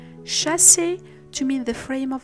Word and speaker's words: chassis: We say chassis to mean the frame of a vehicle, bourgeois